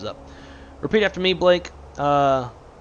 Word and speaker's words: Tegucigalpa: Tegucigalpa. Tegucigalpa. That's how you pronounce the city.